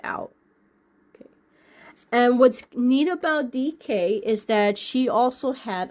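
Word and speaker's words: Deek: And if you say her name fast enough, it sounds like DK. But it's DK, D-E-E-K.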